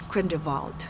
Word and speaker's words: Grindelwald: What do we expect from your character in this film, Grindelwald? Did I pronounce it correctly?